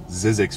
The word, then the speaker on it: Zzyzx: you don't believe me it is actually called zizzix Road I looked up how to pronounce it and apparently the guy